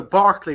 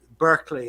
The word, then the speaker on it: Berkeley: moment over here uh you know Barkley which is the original pronunciation he went over uh to American you know uh Berkeley as you call it is named after him